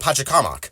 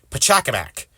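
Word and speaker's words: Pachacamac: has to do with my previous video about Patak kamak or I'm sorry pakamac and yes that is how his name is pronounced and I feel pretty stupid for trying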